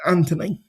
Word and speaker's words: Anthony: the the H is silent, so it's Anthony.